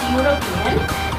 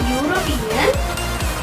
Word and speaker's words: European: The word, we pronounce the word as European. The letter is E, but the sound is a consonantal sound.